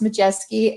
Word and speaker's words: Maciejewski: And so, as Christy said, my name's Maciejewski. She didn't pronounce my last name because she still hasn't figured it out yet. But it's pronounced Maciejewski, and I am the owner and president of Gold Star Medical Business Services.